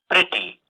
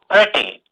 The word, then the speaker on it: pretty: So letter A is pronounced as E. Letter E is pronounced as E. City.